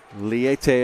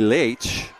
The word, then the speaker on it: Leite: Marcio Liete, as it's spelled in the guide. If you speak Portuguese, it would be Leite.